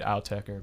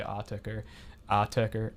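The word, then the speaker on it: Autechre: a different like pronunciation I say it out tecar but some people say ah tech attacker attacker like attacker like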